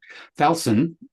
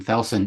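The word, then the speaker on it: Thalson: Thalsan, which is different how we pronounce it, we've just named it a project. T H A L S O N, Thalsan, is currently sitting at 130 pages.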